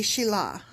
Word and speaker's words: Shelah: Well, it also could be you're not pronouncing it right. It could be Shelah.